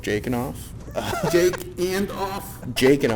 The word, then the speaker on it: Jakin: My podcast it's called Jake and Off.